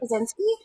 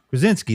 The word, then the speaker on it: Krasinski: I don't know how to say his last name, but Kaczynski? Krasinski.